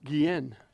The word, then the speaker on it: Guillen: Joe Conlon, the assistant athletic director, was just, it's Guillen, number 19. I didn't know how to pronounce his name.